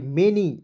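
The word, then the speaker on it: many: समझिए उसके बाद देखेंगे एम ए एन वा मेनी एम का म हो जाएगा ए एन वाई एनी के रूप में उच्चारण करते हैं दोस्तों कहीं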